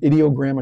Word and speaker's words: Ideogram: mid Journey or edog idiogram I should say that's the way you pronounce it I looked it up idiogram and many others